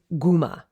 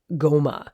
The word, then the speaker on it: guma: Old English and it would have been breed Guma or breed Goma so b-r-y-d breed Guma g-u-m-a and the word Guma